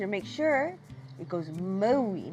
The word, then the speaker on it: Maui: make sure it goes Maui not Maui so you make your mouth a little bit tighter and it sounds like